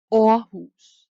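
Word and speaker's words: Aarhus: is the double a the double a is pronounced like the danish vowel so for example the lovely city you're in is not called ahus it's or whose and another danish city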